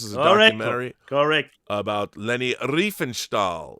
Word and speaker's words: Riefenstahl: This is a documentary about Leni Riefenstahl, right?